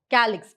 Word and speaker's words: calyx: So what they have done is, according to the pronunciation, it's K. So calyx, K.